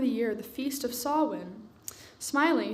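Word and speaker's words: Samhain: year the Feast of sowin smiling she said the strange words so it seemed to rhyme with plowing while oh sorry all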